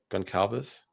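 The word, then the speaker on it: Gonçalves: Cuz I wanted to see How How do you pronounce that? Gon- Goncalves?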